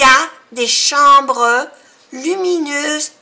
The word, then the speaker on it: chambre: Il y a des chambres. Chambre tiene una vocal nasal en, AM, que se pronuncia en. Lleva una M porque le sigue una B.